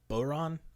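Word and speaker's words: bodhrán: Nah, I don't think they pronounce the D. No. Bodhran. Yeah. I think it's just a vocal sound with a r in there somewhere. I should know this shit, but Celtic is like that language.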